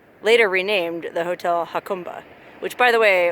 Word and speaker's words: Jacumba: renamed the hotel huh khumba which by the way one of the other signs says it's definitely pronounced how come but anyway so this